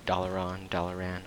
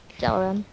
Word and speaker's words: Dalaran: Apparently it's Dalaran, I don't know. Dalaran. Yeah, that's how you say it.